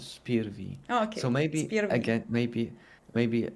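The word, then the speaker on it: SPIR-V: five I was telling I was always saying five but I I think it's spear V so maybe again maybe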